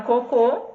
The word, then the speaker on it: cocô: coco as a sílaba tônica Inicial na palavra cocô a sílaba tônica é Afinal a é mas eu